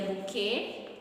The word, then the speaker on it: bouquet: supposed to be a bouquet Bou so the T the T the T it's not pronounced uh we have the